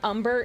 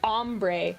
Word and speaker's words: ombre: I thought you were deliberately mispronouncing umber. No. No, ombre.